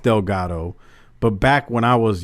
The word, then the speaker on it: Delgado: is right and it's it's it's it's it's pronounced Delgado but back when I was younger people would